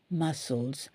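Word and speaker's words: muscles: சொல்லுவாங்க மஸ்கில்ஸ்ன்னு ஏன்னா அங்க சி இருக்கு இல்லையா அதனால அந்த சியை விட்ரனும் நம்ம எம் யூ எஸ் மஸ் இல்ஸ் இல்ஸ் அந்த எல் இ எஸ் வந்து இல்ஸ் மசில்ஸ் சோ இதுல நிறைய எழுத்துக்கள்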